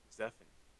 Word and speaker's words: Zephant: and his first task was to watch over zephan that's how you pronounce that in the dungeons because zeffin kind